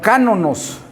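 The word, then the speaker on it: κανών: Entonces ya vimos ahí que el canon se deriva de una raíz griega que se pronuncia como cánonos, que significa ¿qué?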